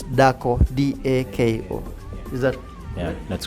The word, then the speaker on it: dako: So what I get is that for a woman, the word woman in Luo of Kenya is dhako, D-H-A-K-O, while for Langi it's dako, D-A-K-O.